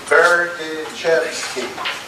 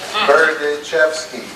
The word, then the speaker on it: Berdichevsky: Berdichevsky. I always tell people if you can say bird in the sky, you can pronounce my name, Berdichevsky.